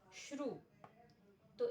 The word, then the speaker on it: श्रुति: जैसे यहां श्रु तो इसके अनुपूर्वी क्या हुई? श र उ त ई रेफोत्तर उकार दिखाई दे रहा है। यहां इसी प्रकार श्रुति इस उदाहरण में रेफोत्तर उकार।